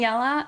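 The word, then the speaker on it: Yelle: this is yella sorry I keep saying yell it's yell uh but it's spelled like ye e l l e this is Safari disco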